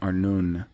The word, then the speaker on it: Arnon: population the river arnon a-r-n and he leaves out the oo it's a-r-n-u-n arnoon is mentioned in deuteronomy